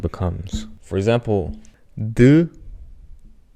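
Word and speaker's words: ㄷ: So this one being d, matter of fact, slightly similar to t.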